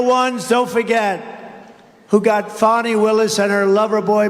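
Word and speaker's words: Fani: But many, many people, their lives have been destroyed because of Fonnie, F-A-N-I, Fonnie. You have to pronounce it Fonnie. It's called Fanny. You have to pronounce Fonnie.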